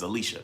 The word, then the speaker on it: Alicia: Listen, y'all make sure that I call Alicia, because that's her name is Alicia. That's how she pronounces it.